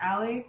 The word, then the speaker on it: Ale: So my stage name is pronounced Allie, but it's spelled A-L-E.